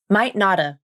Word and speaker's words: might notta: And here's the second pronunciation. Might notta. Might notta. I might not have gone with you. Here's how you pronounce it. You use the same pronunciation as might not have, but you also drop the final V in of, which sounds like might notta.